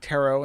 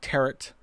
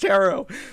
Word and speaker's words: tarot: right you heard me right chad i did pronounce it tarot and not territ and i know you're all surprised you're shocked